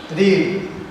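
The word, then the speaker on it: read: এখানে main verb রিড। রিডের এখানে আমরা কি বসাবো? Past form রেড। রিডের পাস্ট ফর্মটা কি? রেড। স্পেলিং কিন্তু একই, কিন্তু প্রোনাউন্সিয়েশন আলাদা হবে, রেড।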